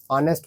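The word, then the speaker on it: honest: लोग ए यूज़ करेंगे एन ऑनेस्ट person ऑनेस्ट को अ से प्रोनाउंस करेंगे तो ऑनेस्ट ऑनेस्ट जो है स्वर है तो स्वर के आगे हम लोग एन ऑनेस्ट करें यूज़ कर लेंगे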